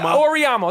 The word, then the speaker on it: Auriemma: name Gino uh Gino Gino what Amano amam Mar how do you say his name I don't know orama orama that's it Gino or I'm not